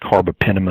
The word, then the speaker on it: carbapenem: year that we couldn't even treat it it's pronounced carbapenem n' resistant ecoli and cre is basically one